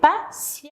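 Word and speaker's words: patiemment: Faites attention, le ENT, on va le barrer. On va mettre EMAN et on va prononcer patient.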